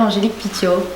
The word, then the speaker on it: Angélique Pitiot: Aujourd'hui je suis avec la belle Angélique Pitiot. Bonjour. C'est comme ça que ça se prononce?